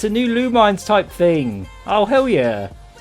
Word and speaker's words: Lumines: Yeah, it's a new Lumines type thing. Oh, hell yeah. Lumines effect. Yeah, lumines. That's how you pronounce it.